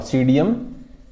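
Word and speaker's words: Psidium: गुजावा याद रखो, guava, सीडियम P silent, इसमें सीडियम गुजावा, मिर्टेसी फैमिली का है।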